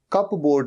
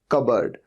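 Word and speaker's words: cupboard: लेकिन स्पेलिंग क्या होती है? सी यू पी बी ओ ए आर डी। तो लगता तो ऐसे है कप बोर्ड। कप बोर्ड नहीं यह होता है कबर्ड।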